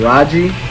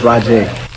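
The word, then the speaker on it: Rahjai: ECU's running back's name is pronounced Rajay Davis. Harris. Well, you did it again. Raji, God. Raja, or Raja. It's Rajay. Now, how did you say the guy's name who I keep saying?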